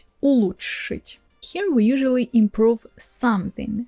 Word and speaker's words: улучшить: Past tense: Future: You see, the prononciation of this one can be tricky because it has these Ч/Ш sounds together and that's why it's confusing. But it's not complicated, you just do Ч/Ш sound, so you slightly move